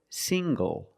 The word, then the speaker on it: single: Also, this word single. Single. The ng makes the nasal sound plus the hard G.